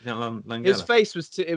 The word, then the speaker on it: Langella: Langella.